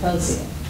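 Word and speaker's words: Akosua: I pronounce it Akosia.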